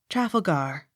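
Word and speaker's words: Trafalgar: c h e tolmash t r a f a l g a r travelgar accent on last syllable as regards the peer of that name not otherwise t r e d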